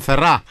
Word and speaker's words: Ferrat: era conocido como jean ferrat con un ate al final que no se pronuncia cantautor francés uno de